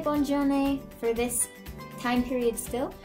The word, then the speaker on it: bonne journée: This first one is how you're gonna say have a good day, and that's going to be bonne journée.